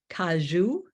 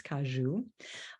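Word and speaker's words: caju: trees do grow and where they are called kaju and that's spelled c-a-j-u in portug Portuguese kaju uh that cashews are not classified as a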